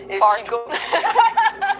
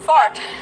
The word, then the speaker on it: fart: Fart. She said it. Say it again. Fart.